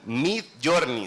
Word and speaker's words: Midjourney: Si ustedes son arquitectos, les invito que hoy en la tarde pongan Midjourney, se escribe M-I-D, Journey, así como lo que escribí.